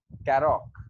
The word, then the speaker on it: Karoq: Since you reviewed the Karoq, how is it pronounced? Karoq.